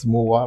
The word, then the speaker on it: Mowah: So um I'm I'm a huge fan of your work um Moa, right? Yes. Yeah. I just want to confirm the pronunciation.